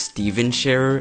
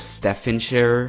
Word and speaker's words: Stephen Sharer: bombed with comments saying that his name was pronounced Steven share instead of Stefan share which that's how it's spelt on his channel